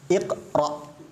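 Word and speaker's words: اقرأ: idhab kasrah Hamzah wasalnya qqra 1 2 3 huruf ketiganya fathah maka dibaca Iqra patokannya huruf ketiga kalau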